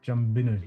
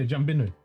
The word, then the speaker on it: Jumbinu: Aboriginal name for the Geraldton is Jumbinu, which is pronounced Jumbinu. Yeah, Jumbinu.